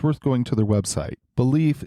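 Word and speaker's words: Baleaf: going to their website belief is spelled b a l eaf one big plus for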